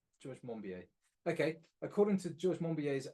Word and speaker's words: Monbiot: According to, how did you say his surname is pronounced? I think it's George Monbiot. George Monbiot.